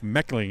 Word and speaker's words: Meckling: Also, or Jeff Meckling is how they'll pronounce it.